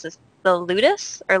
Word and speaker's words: Ludus: little bit about, and I don't want to mispronounce this, the Ludus or Lotus? Ludus, right.